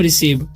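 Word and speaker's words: receive: रहे तो यहां पर सी के बाद क्या है ई है तो ई अगर रहता है तो क्या हो जाता है उसका चरणन सी का स हो जाता है ठीक है तो इसे पढ़ते हैं हम रिसीव उसी तरीके से सी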